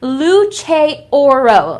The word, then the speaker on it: Luce Oro: So this is actually pronounced Luce Oro, okay? So in case you didn't know, Luce Oro, okay? Very, very nice. It translates to light of gold in Italian.